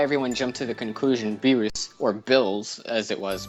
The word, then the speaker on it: Beerus: on virus cuz his the Japanese pronunciation is beerus and there's no V sound in Japanese yeah and but the